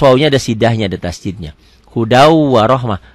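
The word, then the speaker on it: هُدًى وَرَحْمَةً: Hudau warohmah. Tulisannya hudan, bacanya hudau.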